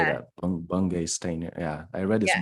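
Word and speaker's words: Bungay Stanier: Bungay Steiner.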